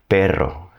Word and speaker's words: perro: When you see double Rs in a word, it's going to have a R sound. So, what I'm doing is taking my tongue, putting it on the roof of my mouth, near the front of my mouth, and just letting it bounce a little.